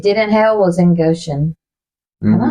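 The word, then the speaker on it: Goshen: only place it did in hell was in Goan am I saying that correctly um I think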